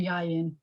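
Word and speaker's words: יין: So for one thing, the accent's on the first syllable, like buy it and yayin.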